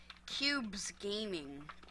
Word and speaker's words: Cubes Gaming: So my new username is going to be, it's going to show on the screen right now, and the way of pronouncing it is Cubes Gaming, Cubes, because I found that